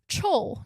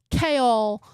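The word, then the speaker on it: Chaol: I learned how to pronounce it and I was like, "Oh, it's like Kale, but I'm going to just say kale."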